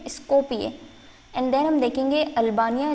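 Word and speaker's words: Skopje: देखिए यहाँ पे जे का ये है य, तो इसको प्रोनाउंस करेंगे स्कोपिये।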